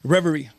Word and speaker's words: Reverie: So, but no, I'm playing Reverie. Did I say it right? Yes.